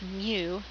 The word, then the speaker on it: mu: and then the mean of a population we pronounce this Greek letter as Mu so it looks like a letter U and